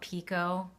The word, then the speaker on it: picot: Okay, also, by the way, I've been told that you're supposed to call it picot, but that is not what people call it where I live. We call it picket because that's how it's spelled in English. So that's what I'm calling it. And if you don't like it, you can leave. Just kidding. That's just how we say it here.